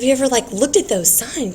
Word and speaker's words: sine: So we've got sine, cosine, and tangent. So this is sine. It's not pronounced sin, it's sine.